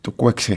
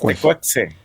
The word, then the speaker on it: Tecuexe: Corrígeme, ¿es Tucuexe o cómo se pronuncia? Sí, pues nosotros estamos acostumbrados a nombrar la X como J. Tucuexe. Pero un experto en náhuatl nos dijo que es Tecuexe.